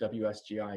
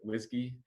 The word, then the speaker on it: WSGI: standard framework wsgi but you don't pronounce it wsgi you pronounce it whiskey and this is something